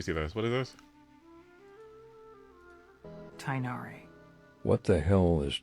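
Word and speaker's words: Tighnari: English alphabet works now the GH part which many people pronounce incorrectly is supposed to sound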